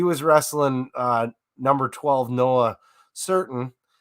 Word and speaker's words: Surtin: He was wrestling number 12 Noah Certain, and that's spelled Surtin, just so you're certain.